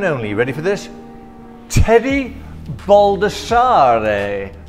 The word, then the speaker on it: Baldassarre: Teddy Baldassarre. AKA Baldassarre, right? You're actually more correct in the actual pronunciation.